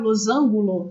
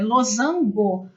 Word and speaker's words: losango: Muita gente fala errado, losangulo. Não, é losango, com S, inclusive, que se escreve.